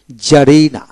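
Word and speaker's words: czarina: উচ্চারণ হবে না জার জারিনা সি জেড এ আর আই এন এ জারিনা জারিনা সির উচ্চারণ হবে না তারপরে শব্দের মধ্যে কিউ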